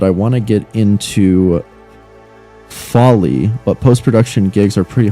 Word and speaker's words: Foley: It's pronounced Foley. I see. Like Foley.